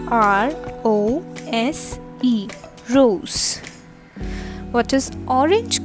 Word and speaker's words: rose: all right what is pink called in french rose r o s e rose what is orange called in french orange